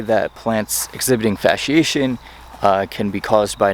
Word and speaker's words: fasciation: But what this is called plant fasciation. It's spelled Fasciation. The fasciation, the SC, is pronounced as you would an SH, kind of like Old English, actually, if you've ever looked or studied that.